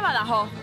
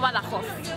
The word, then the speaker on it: Badajoz: pero lo que pasa se pronuncia se pronuncia badajoz no barajó con nada